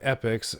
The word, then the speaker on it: Epyx: as 1987 you know epochs it's spelled Epyx so not really sure